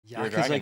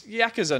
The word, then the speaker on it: Yakuza: would have known that is the beauty of Yakuza games yeah I I think this is a